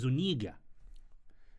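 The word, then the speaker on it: Zúñiga: I think the pronunciation is Zuniga. You can say it. It's calm, bro. No, it's like because there's a thingy on the end.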